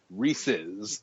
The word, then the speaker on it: Reese's: I mean because well re look at Reese is a name, right? It's Reese apostrophe s Reese's.